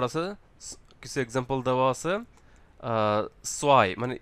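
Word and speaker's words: zwei: কিছু এক্সাম্পল দেওয়া আছে সোয়াই মানে ই আই যখন একসাথে থাকবে আমরা এর উচ্চারণ করবো হচ্ছে আই আই for example Sawai Sawai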